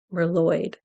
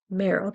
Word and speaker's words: Merold: I thought it was name's merald but I thought it was merloyd it's like yeah I didn't pronounce any of it but I did now so it's merold actually and use Google Translate because